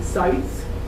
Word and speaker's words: Seitz: And from Lindsay, Seitz, that's how it's pronounced.